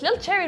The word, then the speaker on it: LilCherrih: French and francophone the age this is not pronounced so it's like it's just little cherry but people are like no there's an ancient